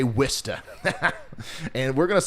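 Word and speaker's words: Worcester: this exactly like war war Chester or War however I said it before um but we're going to say wsta and we're going to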